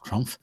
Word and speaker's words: Trump: actually agree with Donald Trump. Uh Donald Trump. I I can't say his name. Donald Trump. Trump. Trump. Trump. Yes. Trump. Yes. Yeah. So, the P is a P, not an F.